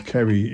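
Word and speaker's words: Ceri: or both, and because his name is Kerry, it was put on the wrong list.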